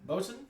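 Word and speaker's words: boatswain: Bosen.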